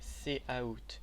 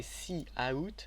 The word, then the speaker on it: cout: Pour l'instant on va juste étudier cout hello world, et pas à prononcer cou ou sout, c'est cout en anglais, ce qui représente, le C représente console et out représente un flux de sortie.